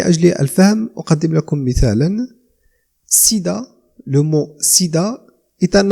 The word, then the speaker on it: SIDA: في le sigle ننطق كل حرف على حدة. ومن أجل الفهم أقدم لكم مثالا. SIDA، le mot SIDA est un acronyme، هو كلمة